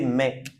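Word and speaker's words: maïs: Et ici c'est deux syllabes a I.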